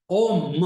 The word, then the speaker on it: Om: Om, Om. Om means there, three syllables.